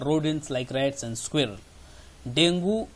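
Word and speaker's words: dengue: The dinghy fever is spread by. इसके options हैं Aedes aegypti mosquito, common house fly, Anopheles mosquito और rodents like rats and squirrel. डेंगू Hindi में वैसे pronounce करते हैं, अंग्रेजी में इसी शब्द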